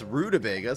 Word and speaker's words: rutabaga: bad for this guy am I not pronouncing Roto Vega correct it's rutabaga so it's Roto Vega oh I got it right okay so the question